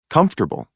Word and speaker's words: comfortable: a listen and practice the vowel immediately after a stressed syllable is sometimes not pronounced average different separate comfortable interesting vegetable page 18